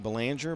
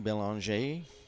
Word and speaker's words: Belanger: Looks like Belanger, but he pronounces it the French pronunciation, Belanger.